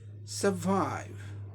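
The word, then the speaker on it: survive: अब नेक्स्ट देखें, सर्वाइव, स एक ब्रेथ में, वाइव दूसरे ब्रेथ में, दो सिलेबल का वर्ड हो गया।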